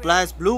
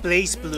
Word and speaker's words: BlazBlue: very first exposure of Blast blue was an anime Vegas 2010 it's pronounced blaze blue oh don't you start